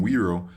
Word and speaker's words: wero: initiative chose the name wero because it combines different elements which we stand for the collective European character of the Wii and the pronunciation close to the word Euro finally wero is close